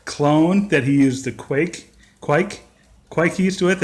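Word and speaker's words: kveik: at the brew club who's researched how a Norwegian would say it, he says it's kviek, he says like an Australian would say kviek. And so anyways, apparently that's the pronunciation.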